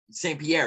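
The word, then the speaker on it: St-Pierre: it was musk uh Saint Paris Saint Pierre yeah that's how you say it here who is in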